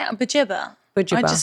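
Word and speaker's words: Buġibba: Bujibba. I mean, I'm sure there'll be some people in the comments saying that I I'm say saying it Bujibba. wrong. I say bajibba.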